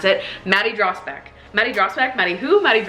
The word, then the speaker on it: Dragsbaek: I really want people to know how to pronounce it. Maddie Dragsbaek.